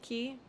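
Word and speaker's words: quay: pronounced key or or q u a y but pronounced key there's actually a queen's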